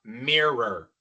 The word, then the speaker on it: mirror: Y entonces la primera parte es mir, mirar, ¿verdad? No es tan difícil. Mirar, pero inmediatamente después tenemos que pronunciar otra r. Mirror.